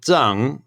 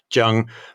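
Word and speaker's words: Cheng: So his name is Zheng. It's spelt often as C-H-E-N-G, Zheng. And then he's often commonly called Deng. And from what I understand, the Deng is like a Taiwanese rendition of Zheng.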